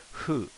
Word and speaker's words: ふ: right here so but this isn't really who it's like a h and an f okay so it's almost like a hoo it's like you're saying who but you're making a slight f with your bottom lip so so it's more of a f than a h so like fool or food but not food but a bit softer on the f if you would if